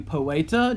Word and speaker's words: poeta: Well, I can do poeta, just to be a little bit of a show off here. Poeta, notice it has a long E in it, so I'm using my, my button to do that.